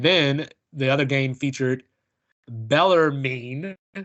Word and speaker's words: Bellarmine: the other game featured Bellarmine I want to say Bellarmine but I put pronounce it to Google and it told me bella mean down in Louisville Kentucky